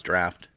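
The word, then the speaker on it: draught: a Guinness and it's spelled D are you ght pronounce draft but it's just the this is the English spelling of the word out so I'm gonna open this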